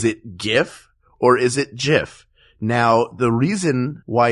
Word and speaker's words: GIF: Is because the inventor of the GIF, whose name is Steve Wilhite, I believe, he said it's pronounced JIF, not GIF.